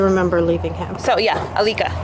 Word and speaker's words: Alica: leaving him so yeah Alica that's alah mhm how do you